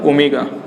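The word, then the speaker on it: ohm: ठीक है, इस सिंबल का नाम क्या है, ओमेगा। ठीक है, लेकिन हम लोग लिखेंगे क्या, ये सिंबल लिखेंगे और प्रोनाउंसिएट इसको क्या करेंगे हम लोग, ओम प्रोनाउंसिएट करेंगे।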